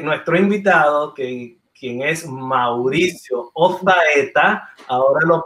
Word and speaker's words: Ozaeta: Y creo que nuestro invitado, quien es Mauricio Ozaeta, ahora lo pronuncio como los españoles, pues el Señor le ha dado este don.